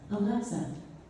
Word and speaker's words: Alexa: I pronounce Alexa. Alexa, the stress is on the middle syllable.